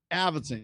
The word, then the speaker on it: Avildsen: Avildsen, yeah.